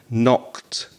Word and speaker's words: knocked: knocking on the door that k is a silent k so it's to knock and knocked there's that sound at